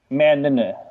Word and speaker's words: Mann: He's got two N's in his name, and you pronounce the second N, so it's Clay Mann. Oh, really? It's like Mannon? Oh, interesting. Yeah, Mannon.